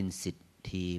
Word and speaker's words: สิทธิ: ใช่ เศรษฐี ไม่ ใช่ สิถี เป็น สิทธี เป็น ท ธง สระอี สิทธิ น สิทธี นะ เป็น ออก เป็น สิทธี นะ ไม่ ใช่ เศรษฐี อย่า นี้ นะ นี้ ก็ อ่า เรียก ว่า ก ให้ พร ออก เสียง สำเนียง ภาษา บาลี บาง ที เรา เป็น